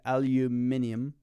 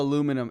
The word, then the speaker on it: aluminium: So controversy, as they say in England, aluminium. They spell it differently. If you didn't know, they spell aluminum.